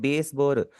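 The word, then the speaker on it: ベースボール: Baseball को आप बोलते हैं बेसबोर।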